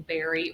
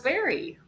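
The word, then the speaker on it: Barre: It is Barry. Okay, so it's Barry. Wow. But the reason we thought it was bar is because like if you go to bar class, it's spelled the same way.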